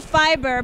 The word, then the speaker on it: Fyber: and I'm with Evan from fiber but it's spelled FY ber hey Evan are you